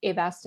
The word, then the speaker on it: Avastin: Am I saying it right? Avastin? You are.